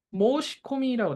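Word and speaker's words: 申し込み: 그러면은 보세요 그냥 읽으면 모시 코미라 돼 있습니다 이거 어때 신 신청해 끼워 넣는 거를 일본어로 모시 코미라 있는데요 앞에 한자를 모시라고 읽어요 모우시 뒤에 거를 코미라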